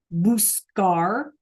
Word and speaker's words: buscar: And when we pronounce them, buscar, sacar, and, or I'm sorry, that's llegar's and GAR. Sacar, okay? Then that C is like a K, right? Buscar and sacar.